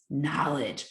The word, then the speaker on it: knowledge: The N is knowledge. The K is silent.